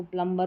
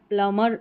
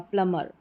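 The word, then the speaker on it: plumber: और ज़्यादा कन्फ्यूज़न इसमें होता है इसको प्रोनाउंस करने में, इसको प्लम्बर पढ़ देते हैं, जो कि गलत रहता है। प्लमर इसका करेक्ट प्रोनाउंसिएशन है, बी साइलेंट रहेगा, प्लमर।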